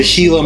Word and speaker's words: Gila: mean I understand the referencing the hila monster I'm a gila person and then when it comes to to the B Cruiser I am definitely a nois you know silent G kind of guy yeah the the whole